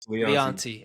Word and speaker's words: Leonty: Um, but my friend, uh, welcome to Is it Leanti? Is that how you pronounce it? Yes. Leonte.